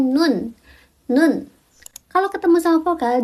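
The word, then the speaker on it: 눈: Huruf N kalau di akhir dia dibacanya N. Contohnya itu ada nun.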